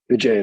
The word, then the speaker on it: Vijay: So for the team here, you and am I saying it right? Is it Vijay? Vijay, that's right. Yep.